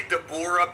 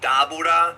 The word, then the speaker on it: Dabura: You know, people say Dabura because that's kind of like the Funimation pronunciation, but it's supposed to be Dabura. That's how they pronounce it in Japanese.